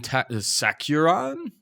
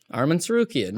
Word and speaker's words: Tsarukyan: We have Islam Makhachev taking on Arman Sakuran. Here's the beginning of the mispronunciation. Tsarukyan. Arman Tsarukyan.